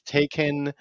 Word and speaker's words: Taycan: Everyone says Taycan. It's tie, like you're wearing a tie, and then a con, like a conference for ties. It's a tie conference. Taycan.